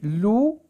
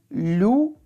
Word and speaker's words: loup: Alors, les mots sur lesquels on voit la lettre P et on n'entend pas le son P, c'est loup, quand, trop et champ.